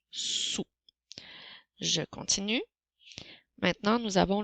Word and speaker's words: sous: Rappelle-toi qu'il y a une lettre muette à la fin dans le mot sous.